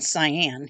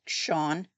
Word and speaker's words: Sian: So, I was saying Sian, cuz it's s i a n, but apparently it's more like Shawn. So, it's Shawn Gilbert, even